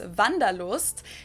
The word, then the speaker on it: Wanderlust: This is kind of an old-fashioned German word that we pronounce Wanderlust, and it's literally the desire to wander, so it means you want to travel.